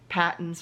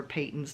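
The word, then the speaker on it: Patons: brand burnett red heart patents or patents depending on how you pronounce it and the mary maxim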